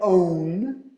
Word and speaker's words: own: Mas então, um é own, então tem o N do fim, own, e tem que pronunciar o N, own. Não digam own, não coloquem um N na garganta, é N, own, own.